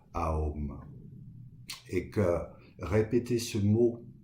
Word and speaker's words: Aum: de la bouche humaine, qui se prononce d'ailleurs pas Om, mais A-O-M, A-O-M, Aum.